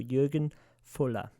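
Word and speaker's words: Jürgen Voller: uh your Jurgen voeller it's German Jurgen vola sorry uh these are F's in German so Jurgen Fuller that's cool yeah right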